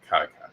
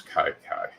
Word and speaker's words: Kai: Okay, Kai, gotcha. Cobra Kai. So Rose Kai. Rhyme with I.